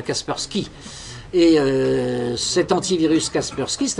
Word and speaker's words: Kaspersky: qu'on vous met d'office qui s'appelle Kaspersky, puisqu'on prononce à l'anglaise, enfin Kaspersky.